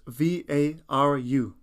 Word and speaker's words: varu: o n o repeat after me number seven is spelled i t repeat after me number eight is VAR spells v a r u repeat after me varu VAR number nine Isa